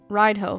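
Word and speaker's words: Raidho: Radio, pronounced ride-ho.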